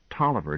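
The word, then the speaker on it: Taliaferro: see also Talia faroh that's the original spelling said Gwen but it's pronounced Tolliver just the same are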